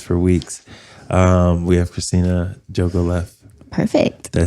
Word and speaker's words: Jogoleff: We have Xtina Jogoleff.